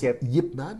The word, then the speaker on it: Ip Man: ça se prononce Yip Man.